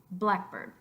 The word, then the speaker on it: blackbird: try this after me blackbird blackbird I think it's pretty obvious that it's the first syllable of that that's accented because we're not saying black bird by bird but blackboard blackboard blackboard